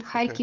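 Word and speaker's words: Харків: the Russian version Kharkov is the Russian version high key for the Ukrainian version okay our languages are very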